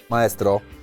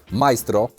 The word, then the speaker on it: Maestro: Burger majstro od McDonalda nie żadne Maestro majstro jest majstro tak tak się serio wymawia ale dobra ja wiecie